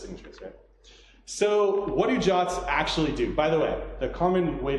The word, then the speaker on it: JWT: so what do you jots actually do by the way the common way to pronounce is this job's not JWT so what do